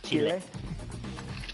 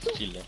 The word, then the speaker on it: chile: Chile. Chile.